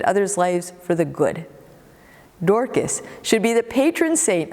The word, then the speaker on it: Dorcas: up to her name pronounced dorkis in greek or tabitha in aramaic she was a kind person who deftly impacted others lives for the good dorkis should be the patron